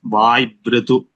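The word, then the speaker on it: वाय्वृतु: वायु ऋतुपितृ उषसो यत् So here when we combine Vayu Ritu, the pronunciation is Vaibritu.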